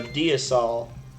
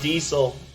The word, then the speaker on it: diasol: This is a diasol, which literally means, like, God dirt. You like that? Do you like that, Zyfel? Diasol? You can also pronounce it diesel, because he's... Yeah. Yeah, it was me. I was having fun with it. But yeah, it's pronounced diasol, and it is actually kind of like a bastardized form of Latin for like dirt of the gods.